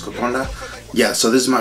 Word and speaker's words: Kokoda: making uh kokonda it's spelled kokoda but it's pronounced kokonda yeah so this is my first time making